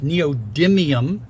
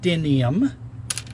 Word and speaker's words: neodymium: these disks okay this other side of the neodymium magnet has another torx screw on it by the way it's pronounced it's it's neodymium not denium and you'll see i'm going to spell it